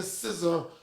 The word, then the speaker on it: SZA: They're not giving SZA That's how you say her name.